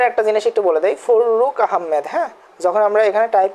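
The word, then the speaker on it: ফররুখ আহমদ: আচ্ছা, উপরে একটা জিনিস একটু বলে দেই, ফররুক আহমেদ। হ্যাঁ, যখন আমরা এখানে টাইপ করতে যাই তো র এর নিচে র চলে যাচ্ছিল, সেজন্য আমরা এখানে একটু ফাঁকা রাখছিলাম। এখানে উচ্চারণটা, এখানে গ্যাপটা হবে না।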